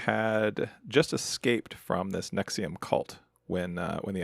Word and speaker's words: NXIVM: She had just escaped from this Nexium cult when uh when the episode started. So, we learned a little bit about the cult. It's called So, it's called Nexium. That's spelled NXIVM and but pronounced Nexium because sure, it's ostensibly